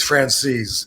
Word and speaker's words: Franzese: Well, did you see the interview that Mike Franzese, is that his name? Mike Francis. Michael Francis. Yeah, Michael Francis? The way he pronounces it is Francis.